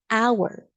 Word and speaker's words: hour: silent h for example an hour the H is silent but if you have